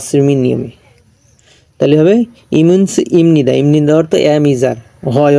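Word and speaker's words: 입니다: এটা হলো ইপনিদা উচ্চারণ হবে, হর্ষায় প ইপনিদা, কিন্তু বিয়োগ বা সিমের পর যদি নিয়ন থাকে তা বিয়োগটা ময়ের মতো উচ্চারণ হবে বা সিমির নিয়মে। তাহলে হবে ইমিনস ইমনিদা, ইমনিদা অর্থ এম ইজার, হয় অর্থে ব্যবহৃত হয়।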